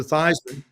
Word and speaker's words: Theismann: decides we're going to change the pronunciation of my last name from thean to thyman um in an effort